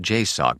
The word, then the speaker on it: JSOC: JSOC, Joint Special Operations Command, and pronounced J- Sock by those aware of the organization, was the Department of Defense's direct action special mission units, SEAL Team 6 or Delta Force.